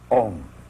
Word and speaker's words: Om: Om pronounced starts in the back of the mouth, then fills the mouth cavity, oo, and closes at the lips, When properly pronounced, you have made all the noises.